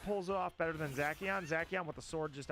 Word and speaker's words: Zacian: Zacian, who I'm hearing I'm hearing the official pronunciation is Zacian. Screw it, that C is hard. Zacian.